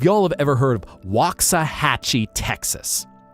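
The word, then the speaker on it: Waxahachie: If y'all have ever heard of Wakaahhatchee, Texas Wa Hatchee, you have three different a pronunciations in that walkie. And each time that a is different versus like Japanese where the a sound ah is consistent.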